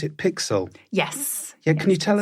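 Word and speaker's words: PiXL: reading about how you got involved do I pronounce it pixel yes yeah can you tell us a bit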